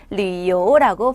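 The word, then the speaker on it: 旅游: 그렇기 때문에 우리는 여행이라고 하고 중국어에서는 류요라고 발음을 합니다.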